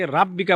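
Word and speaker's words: رَبِّكَ: রব্বিকা, এখানে আমরা একটা মারাত্মক ভুল করি, সেটা হলো রাব্বিকা বলি, মানে রটাকে র উচ্চারণ না করে বাংলাতে রাব্বিকা বলে ফেলি।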